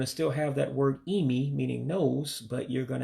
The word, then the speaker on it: imi: It's simply Imi. Imi, nose. So again, the eyes are pronounced as E's in Igbo. So that's why it sounds that way. So again, for nose, you would say Imi, nose.